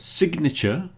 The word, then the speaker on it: signature: I suppose you could sign your signature, but sign is pronounced sign with a silent G, but signature, you hear the G.